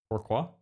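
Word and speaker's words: pourquoi: No, how do you pronounce that? Poor Qua. That's what Dbell is telling me it's supposed to say.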